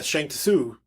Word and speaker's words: Shang Tsung: Yeah, that's how his name's pronounced. And yeah, Shang Tsung.